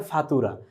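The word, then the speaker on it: فاتورة: এটিকে আরবিতে বলা হয় ফাতুরা। আমরা এখানটা সুন্দরভাবে উচ্চারণটি লিখে দিয়েছি। ফা তুরা এইযে ফা তুরা ফাতুরা ফাতুরা শব্দের অর্থ হচ্ছে ভাউচার বা রশিদ।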